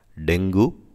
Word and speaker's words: dengue: ஸோ டெங்கு அப்படின்றத நம்ம ஆக்சுவலாக தப்பாக ப்ரொனவுன்ஸ் பண்ணிகிட்ருக்கோம், அது டெங்குன்னு சொல்லக்கூடாது, டெங்கி. கீ இருக்குது பாருங்கள், நெய் இங்கிலீஷில், அந்த மாதிரி சொல்லணும், டெங்கி அப்படி சொல்லணும்.